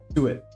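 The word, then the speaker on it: suet: always have issues with so it okay Su it I've been saying it right um hopefully uh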